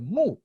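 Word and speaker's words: 木: based on the image, the character of tree, pronounced mu.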